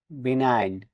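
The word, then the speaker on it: benign: এর পরে এন আছে বিই এন আই জি এন বিনাইন এখানেও জি লেটার ডি সাইলেন্ট থাকবে বিনাইন মানে সমম্য সি এল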